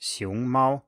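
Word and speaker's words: 熊猫: even though of course the correct pronunciation is xiong Mao with a rising tone followed by a high tone this is an example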